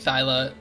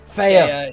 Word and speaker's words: Thea: think I think Thyla gets it. Saying that name wrong? Thea.